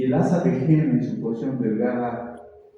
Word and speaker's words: Henle: Henle se escribe con H, Henle.